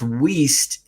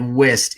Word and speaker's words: Weiss: So my name is Weiss, and I did make a long point about saying that it's pronounced Weist, even though it looks like Wist, it's Weist. And so that's how you pronounce my last name.